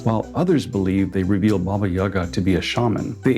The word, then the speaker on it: Baba Yaga: Pronunciation of her name may vary depending on regional accents and personal preferences, though Baba Yaga is most common. However, Babaiga is also accepted.